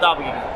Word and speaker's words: Doppoganga: It's with an O, but it's pronounced Doppoganga.